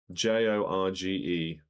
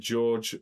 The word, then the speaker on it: Jorge: J O R G E Boglio. What did George Boglio become in 2013? I assume it's pronounced George. Oh, it's H. It is H.